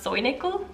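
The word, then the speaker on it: Säunickel: cute soy nickel soundingly i wrote sound nickel but i'm pretty sure it's pronounced soy nickel pretty sure this is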